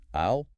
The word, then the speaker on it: I'll: We need to do a rhythm practice drill for this because getting comfortable with the isle sound will instantly make your English sound more natural in dozens of situations, not just restaurants.